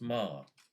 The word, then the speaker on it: Meagher: I think it's pronounced Ma.